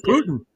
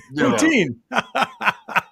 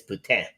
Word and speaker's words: poutine: He said Putin. I was thinking the dictator. What? No, poutine. if you're pronouncing it en français, it's putain.